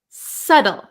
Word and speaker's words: subtle: you've got it now we also have a silent B so we pronounce this word though Sado subtle subtle okay so this